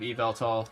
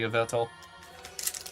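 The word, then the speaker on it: Yveltal: I really like the pronunciation of Evel over uetal like I used to say. I used to say Uvel. Evel just kind of makes more sense phonetically. At least in my head.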